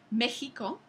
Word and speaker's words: México: que tenemos palabras como México que que se se sigue escribiendo con x aunque se pronuncia eh No se pronuncia como otras X en el español la razón es porque